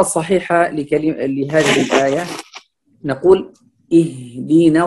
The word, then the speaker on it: اهدنا: Fal-qira'a as-sahiha li hadhihi al-aya naqul اهدنا الصراط المستقيم. هنا الهمزة مرققة فنقول اهدنا، والهاء أيضا هو حرف ضعيف هنا فلا يفخم أو يأتي كأنه مفخم لأن قبله همزة مرققة، فنقول اهدنا الصراط.